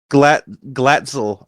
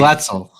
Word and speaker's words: Glatzel: Is it Gatstil? Glatzel, I think. Glatzel.